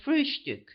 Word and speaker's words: Frühstück: the word breakfast, but always call it Frühstück, with a special emphasis on the first syllable.